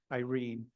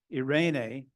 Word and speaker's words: Irene: that MacDonald knew that Irene is the Greek word for peace. So that might have played a factor. And that has three syllables, or three pronounced syllables.